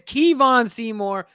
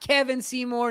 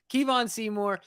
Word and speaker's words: Kevon Seymour: hit the scene he has Kevon Seymour not Kevin Seymour not kavan Seymour Kevon Seymour he is here to